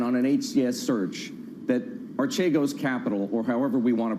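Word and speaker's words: Archegos: an hcs search that artego's capital or however we want to pronounce it in fact a greek colleague of ours told me yesterday it should be ashay ghost we'll leave it at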